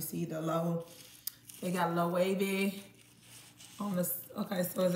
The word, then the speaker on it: Loewe: um the wavy glasses a lot of people pronounce it lovely but it's really low wavy shout out to Eric